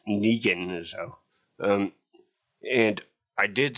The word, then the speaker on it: Negan: on the road um I thought that the pronunciation was deakon but it's Negan so um and I did see a thing